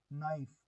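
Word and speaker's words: knife: Wrong का W silent, नाइफ, नाइफ का के साइलेंट, असाइन, असाइन का जी साइलेंट, और रेन, जी साइलेंट, लैम्प, बी साइलेंट, ठीक है।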